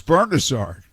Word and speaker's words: Bernazard: me and he says will you tell that guy to pronounce my name right bernazzard i said okay i'll say something so i said to norm norm it's bernazard he said okay and